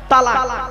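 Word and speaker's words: طلاق: আমি এখানে বসে আছি চিন্তা নেই অনেকে ভয়ে উচ্চারণ যদি বউ চলে যায় কি বলে তালাক বাবা শব্দটা তালাক নয় শুনে নিন আজকে তালাক শব্দটা নয় শব্দটা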